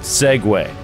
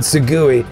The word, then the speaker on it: segue: And then the first thing the goddamn thing says in brackets is, Joe, it's pronounced Segway. And like phonetically writes out Segway. It's offensive. Because he would have said Segui.